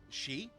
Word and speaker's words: Sidhe: Is most closely pronounced as she.